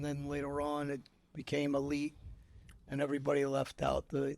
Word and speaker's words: Alite: are you welcome now the correct pronunciation of your name is it a like or Elite how how no it's actually elite elite is in you know the Albania pronunciation growing up in school no teacher could get it right so they used to say aite so we just said okay aite okay and then later